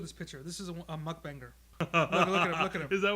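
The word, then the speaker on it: 먹방: Yes, because it comes from the words Myeoknyun and Bangsong, which mean eating broadcast. So it's short, mukbang.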